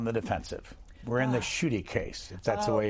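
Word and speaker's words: Schuette: of them on the defensive we're in the shooty case if that's the way you pronounce it yes that's exactly how you pronounce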